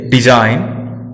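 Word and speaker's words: design: अब बात जी की करें तो जब जी एन के पहले आता है तो साइलेंट रहता है, जैसे डिजाइन, फॉरेन, साइन।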